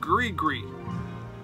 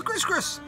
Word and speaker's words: Gris-Gris: Where the hell did you come up with Gree-Gree? This is Gris-Gris.